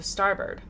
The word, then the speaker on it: starboard: been towards us and it's a retroflex schwa so you're right so starbird starbird all right cool i'll say it like that from now on port and starboard and